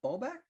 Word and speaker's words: Bobak: Anna Bobak, I hope I'm pronouncing that correctly. Yeah, great. Great pronunciation of Polish. Hi, everyone. Thank you for inviting me. My name is Anna Bobak.